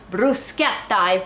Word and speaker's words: bruschetta: to talk to you about bro shut up Bruce get sighs the correct way to pronounce it and it apparently literally means toast